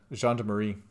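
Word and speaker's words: gendarmerie: to finish my cigarette that's how you pronounce that john de marie okay electrochemistry medium success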